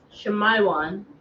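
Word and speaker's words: שמעון: one we have Simeon Simeon is pronounced Shayan sh and that means Afflicted hered Shaman sh not shayaan Shayan sh want have it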